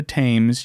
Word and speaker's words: Thames: As Corden lets us know, not the Thames. You can't say Thames because it rhymes with Ames.